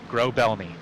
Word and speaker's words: Grobelny: Yeah, Grobelny. You're going back. Grobelny is how you say his last name.